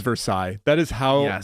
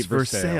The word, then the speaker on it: Versailles: It very much is Versailles. That is how it should be pronounced. But when I'm talking to Pittsburghers, I say Versailles.